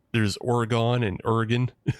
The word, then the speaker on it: Oregon: Look, which is the bad Oregon? There's Oregon and Oregon. Oregon it's Oregon is how the locals say it. But yeah, a lot of people like to emphasize that Oregon.